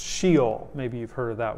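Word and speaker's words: Sheol: realm of the debt it's a word that would be pronounced she'll maybe you've heard of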